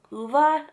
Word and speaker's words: Ove: It's called A Man called Uva. I think that's how you pronounce it. I listened to the audio book of this and that's how they pronounce the name. I at first I thought it was O, but the way that they pronounced it in the audio book was UVA. I think that's how you pronounce it. It's Swedish.